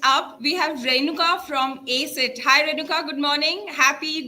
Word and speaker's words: ACIT: So let's start with tell us what problem you're solving with ACIT. Am I pronouncing it correctly?